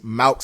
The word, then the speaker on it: Malc: But yeah, so definitely make sure that y'all check out that project from Malk, MALC, and Twice, just like it's spelled.